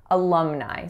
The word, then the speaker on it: alumni: institution will say so in alumni there's three syllables that first letter A is a schwa the second syllable is Lum so that lacks a sound and then the third syllable is Nye Nye alumni so our next word